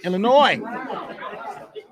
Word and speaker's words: Illinois: do tonight remember Nate the s in Illinois the S is silent in Illinois yes the S is silent Illinois let's get ready to